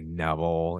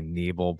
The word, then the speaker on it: Nebel: yeah, not that many letters, not that hard, but people always say Neville and it's really Neble.